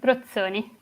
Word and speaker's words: Brosoni: I pronounce it Brozzoni. Brozzoni, so yeah, it's cool. I was still in English mode.